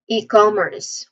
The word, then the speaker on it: e-commerce: and services online e-commerce pronunciation wise the first syllable is e So we see it as e which is which is leaning more on long e sound. This part has the first stress and then com second syllable. This part has the second stress com. It's uh it is a short o sound. So com. And then finally with earth. The letter r here is pronounced clearly.